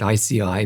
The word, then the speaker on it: IASEAI: We pronounce it ICI, but it's easy to misspell.